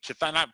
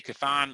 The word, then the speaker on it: Chthon: by a character named chathan people say kathan I say it's chathan I don't know CH h t h o n I don't know when